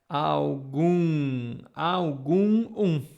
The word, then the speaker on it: algum: So the M sounds like N. It depends which is your language, okay? If you are saying English, yes. Algum, okay?